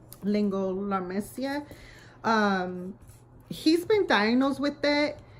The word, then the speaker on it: laryngomalacia: let Lehren go Malaysia you pronounce it lingo la mesilla he's been diagnosed with